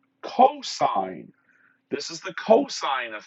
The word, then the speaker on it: cosine: have cos theta now it's not actually cos because just like sin was a short form for sine cos is the short form for cosine this is the cosine